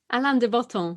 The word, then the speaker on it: Alain de Botton: How do you pronounce his name? Alain de Botton.